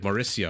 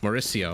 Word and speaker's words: Mauricio: C is in Civ, Mauricio. Okay, sorry about that.